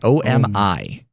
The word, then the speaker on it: Omi: It is spelled Omi. Yeah, OMI. And what it is, Omi. You owe me money.